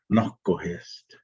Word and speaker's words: Nokohist: Nokohist, that's how we say his name. Noko is bear, hist is heart. And so it's Nokohist, bear's heart.